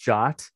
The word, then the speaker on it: JWT: jobs uh they are json web tokens is pronounced shot it's a ietf standard uh good old 7519